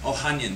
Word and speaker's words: Ohanian: Ohanian, yeah.